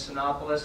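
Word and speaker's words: Cinépolis: be a new theater I believe the pronunciation is synopis I've not been corrected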